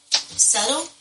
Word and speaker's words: subtle: Oh, subtle? Yeah. Spelled with a B? It sounds like a D, don't it?